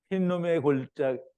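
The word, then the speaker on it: 힌놈: 그러니까 흰놈이에요. 히브리 발음으로는 흰놈. 그리고 골짜기는 이제 거기 따라오는 설명이고요. 그리고 다른 말로는 게헨놈. 아니, 게벤놈. 벤흰놈이라 하는데 흰놈의 아들의 골짜기라는 뜻인데요.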